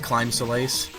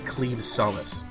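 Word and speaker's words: Claimh Solais: it I'm going to be calling it The clim Solace because that just it sounds right to me but yeah the technical way you pronounce it is cleave Solace um there's lots of weird words like that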